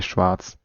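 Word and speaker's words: Schwarz: uh I'm gonna say Schwartz that's the German pronunciation of black the German word yeah um we're playing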